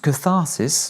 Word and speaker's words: catharsis: La catarcis, en anglais, tu prononces catharsis, c'est le processus par